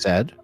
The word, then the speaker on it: Z: It's not Z, it's Zed.